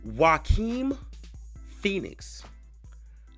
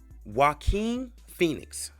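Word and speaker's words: Joaquin Phoenix: on this man's name his name is pronounced wae Phoenix wae Phoenix let me say that again wae Phoenix dope actor and he's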